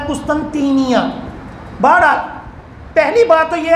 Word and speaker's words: قسطنطینیہ: اس کو قسطنطینیہ بھی کہا جاتا ہے لیکن قسطنطنیہ لوگوں میں مشہور ہے، بہرحال اصل تلفظ ہے قسطنطینیہ.